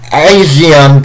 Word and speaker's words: ASEAN: it's the first time they have one the asean cup that's how that's how it's pronounced they want it like free four years